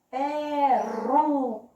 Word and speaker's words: peruca: Peruca. Qual foi a sílaba mais forte? Exatamente. O ru. Da família do ra, ré, ri, ró, ru.